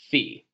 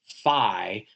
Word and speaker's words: phi: This is the Greek letter F spelled phi, but pronounced fe. Sometimes this letter is pronounced fi uh in the Greek language, but I'm not